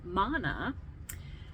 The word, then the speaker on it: Mana: And then we had Mana, that rhymes with Lana.